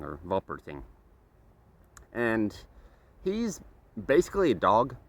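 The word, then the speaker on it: Wolperting: author would pronounce it since Germans pronounce that as a v it's w l p e r t i n g wering or vul pering and he's basically a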